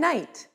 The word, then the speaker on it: knight: h chemist and chaos k no and knight p psychology and pneumonia